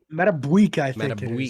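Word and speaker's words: Madubuike: uh nose tackle brandon williams defensive end justin madame bouquet is that how you pronounce that metaboy yeah that's excuse me yeah that's the rookie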